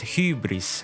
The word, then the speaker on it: Hybris: Her codename is pronounced hybris, an ancient Greek word meaning pride, insolence, or outrage.